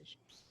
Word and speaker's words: Issuu: It's Issue spelled like ISSUU.